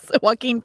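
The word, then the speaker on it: Joaquin: to pronounce it properly is it is it walk yes walking Phoenix yeah that's why I mispronounce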